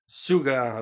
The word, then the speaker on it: Suga: Yeah, sounds like Sugar, but Suga.